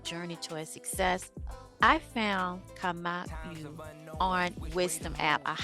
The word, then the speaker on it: Kamau: How you pronounce your first My name? name is Kamau Kamau.